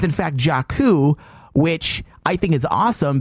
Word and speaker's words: Jakku: Is that they're pronouncing it? Yeah. It's in fact Jakku, which I think is awesome because they say